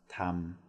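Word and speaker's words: ธรรม: When you see a combination of two ra-ruas together, one, it's not ra-rua. Two, it's not a consonant. So again, no reason to bring logic into learning language. But what it is a short a vowel. So it's just like sara a. So this word here, starting with ta tong, ending with ma ma, would be pronounced tam.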